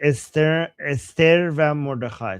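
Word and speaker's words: استر و مردخای: Esther va Mordechai. So that's how you pronounce it in Persian.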